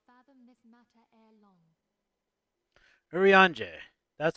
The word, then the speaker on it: Urianger: Urianger.